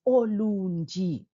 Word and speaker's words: Ulundi: then there is that which is the letter l which is silent kul gama ndawo alright so then it's olundi no suffix ulwandle olwandle